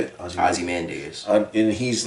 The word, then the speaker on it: Ozymandias: Ozymandias.